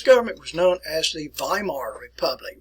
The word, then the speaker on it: Weimar: was known as the weimar republic remember to pronounce this with a v uh use your your rules here b e i so we pronounce it as a long iso by mar republic but the weimar